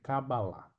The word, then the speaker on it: Cabalá: se dizem avalistas porque a pronúncia de fato correto é kabbalah não há como algumas